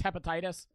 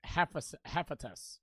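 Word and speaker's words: Hephaestus: tiptoe from Fringe that's hepatitis Joe he's the god of forging it's pronounced hephatus okay same thing I'm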